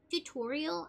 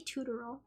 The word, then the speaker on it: tutorial: I think like um tutorial I used to say tutoral I used to think it was pronounced tutoral and so I was